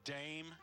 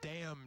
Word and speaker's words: Dame: She's a dame. That's damn Judy Dench. It's Dame. They pronounce it dame Judy Dench.